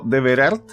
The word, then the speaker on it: De Verart: Vera, también conocida como De Verart, creo que así se pronuncia.